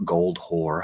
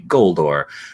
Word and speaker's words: Goldor: Quinbrin Goldor, or Goldhor, however you wish to pronounce it, but they say Goldor.